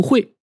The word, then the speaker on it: 桧: 多音字，用作人名的时候读惠，比如秦桧；指代桂柏这种树木的时候呢，读桂或者快。